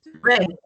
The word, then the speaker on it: read: is pronounced is pronounced red it's it's red i think it's red no red but red like the color like the color yeah okay yes you're